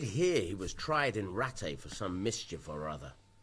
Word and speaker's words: Rattay: Or Rattay. I'd pronounce it Rattay, but I think they say Rattay.